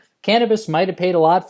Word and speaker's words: Canibus: It's just putting bitch in the place of bis or bus, really, because it's spelled Canibus. But anyway, it's Cannabis might have paid a lot for that.